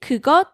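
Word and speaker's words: 그것: is near the other speaker you can say kugot okay and how about if the object that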